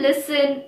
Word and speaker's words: listen: Usually anything ending in S-T-N has a silent T. For example, listen, moisten. Also, the words ending in S-T-L-E are likely to have a silent T in them. For example, hustle, whistle, castle.